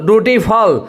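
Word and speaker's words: dutiful: ड्यूटीफुल देखिए, ड्यूटीफुल means you के आगे दो बिंदी है, इसका मतलब दुर्गु हो गया, मीन्स लंबा करके बोलना पड़ेगा, और डी के ऊपर लकीर है, इसका मतलब डी पे जोर देना होगा, और टी होता है, और ई उल्टा हुआ, ई उल्टा लिखा रहता है तो अ होता है, तो क्या हो गया ड्यूटीफुल।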